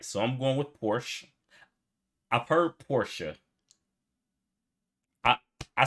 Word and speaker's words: Porsche: I've heard Americans pronounce it Porsche or Porsche. In German, we say Porsche. So there's like this short E sound in the end. Porsche.